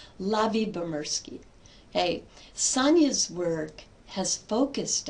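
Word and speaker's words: Lyubomirsky: Her last name is pronounced Lavi Bamurski. Lavi Bamurski.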